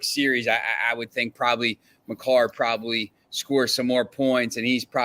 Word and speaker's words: Makar: You see any, make last before game 2, it was minus or plus 110 for Maker. I forget how you say his name. Makar, yeah, Makar, and plus 110 for